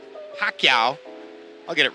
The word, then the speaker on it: Pacquiao: as the unknown fighter whose name cannot be pronounced correctly tail of the tape for lisinola against Manny pacaya Pacquiao I'll get it right Pacquiao it was the